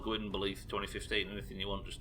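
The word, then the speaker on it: Gwynbleidd: Because we appreciate that Gwynblade's name should be pronounced Gwynbleith or something along those lines, but we don't pronounce it that way because they don't in the game for some reason.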